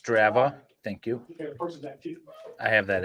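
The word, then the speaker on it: Strava: two days before Mo she looks Herra it's pronounced straa thank you I have that app keeps track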